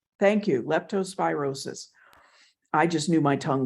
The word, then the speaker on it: leptospirosis: of the indigenous folks died how do you pronounce it leptospirosis thank you leptospirosis I just knew my tongue wasn't going to